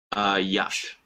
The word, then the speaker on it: yacht: Yacht.